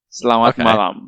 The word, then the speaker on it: Selamat malam: Selamat malam.